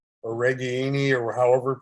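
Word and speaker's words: Ragaini: And you get Nico Reganey or Reganini, or however he pronounces his last name. What is it? Raganini.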